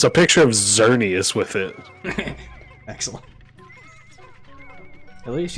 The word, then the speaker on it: Xerneas: But it's a picture of Xerneas with it. Excellent. At least you don't say Exernius.